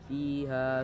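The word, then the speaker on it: فيها: fiha di bagian fiha terdapat dua mad asli di bagian eh kasrah bertemu ya dan fathah bertemu Alif itu termasuk pada hukum Mat asli cara kita membacanya seperti sebelumnya juga dipanjangkan eh secara dua harakat fha fiha samiu kemudian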